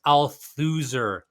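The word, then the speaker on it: Althusser: ideology it was like it's Al thuser like loser like okay okay I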